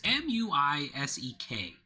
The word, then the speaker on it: Muisek: It's M-U-I-S-E-K. I'm gonna assume it's accentuated, so it's Muisek.